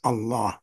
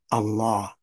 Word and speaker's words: Allah: pronounce that Allah as Allah that's it Allah so listen to the subtle difference Allah and Allah one has what is called a dagger Alf which elongates The Vow by two beats those